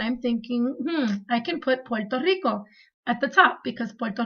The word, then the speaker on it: Puerto Rico: both words and for anyone out there it's pronounced Puerto Rico which means Rich Port not Puerto Rico like most people say I don't know why